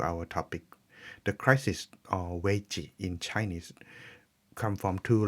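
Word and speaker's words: 危: Chinese words about the term crisis pronounced as way.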